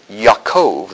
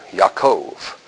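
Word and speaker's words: יעקב: it's pronounced in Hebrew Yakov there is no J in Hebrew Yakov Joseph is YF Jesus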